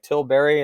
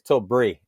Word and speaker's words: Tilbury: ruining this lap but i think it's tilbury uh again there's a little bit of like the english pronunciation on this last one because i was like till berry and they're like no it's tilt brie and i was like